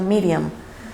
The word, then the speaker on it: Miriam: miriam dato curioso que el nombre de maría en hebreo se pronuncia miriam pero bueno maría verdad